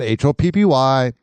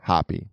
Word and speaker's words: Hoppe: That's Hoppe, not Hoppy. My last name is pronounced Hoppe.